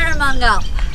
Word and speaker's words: Jerramungup: Jerramungup.